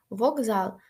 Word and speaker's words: вокзал: к стає Ґ рюґзак вокзал з впливає на к так що к стає Ґ До речі дуже поширений